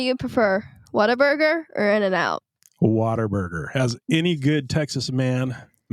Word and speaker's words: Whataburger: Whataburger, as any good Texas man in Texas should. Yes. Now, do you say? Oh no, here's a quick rebuttal question. Do you say what a burger or Waterburger?